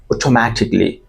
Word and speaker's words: automatically: Another commonly mispronounced word is automatically. Listen and repeat after me. Automatically.